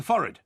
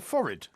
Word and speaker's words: forehead: The forehead. The forehead? Yeah. What's the forehead? It's your forehead. Forehead? Above your eyes. It's not forehead. No, F-O-R-I-D. No, it's pronounced forehead.